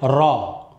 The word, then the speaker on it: ر: Alors pour la prononciation de cette lettre-là, elle va être emphatique uniquement lorsqu'elle a une fatha. Et là, je veux dire ra, ra.